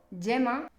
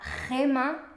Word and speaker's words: gema: es la pronunciación Porque si yo veo esta palabra y la pronuncio yema estoy cometiendo un error de pronunciación porque una Gema es una piedra preciosa una Gema pero una yema una yema es la parte amarilla de un huevo veis Esa es la